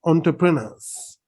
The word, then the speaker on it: entrepreneurs: They like to take risks to become successful online entrepreneurs. මේ වචනේ උච්චාරණය කරන්නේ entrepreneurs. ව්‍යවසායකයා, learn the correct pronunciation.